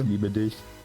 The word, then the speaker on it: ich liebe dich: Ich liebe dich. Ich liebe dich. Is it ich liebe dich? Yeah. It's like I lick dick, basically.